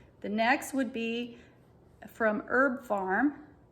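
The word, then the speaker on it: Herb Pharm: next would be from herb farm and farm is spelled p-h-a-r-m herb farm and that's called urinary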